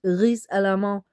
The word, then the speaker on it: risalamande: We just say it like that, risalamande. We said a bit Danish, but it's risalamande, rice with almond in it.